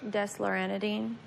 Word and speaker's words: desloratadine: nightly for your 12-year-old, and how do you pronounce this one? Desloratadine.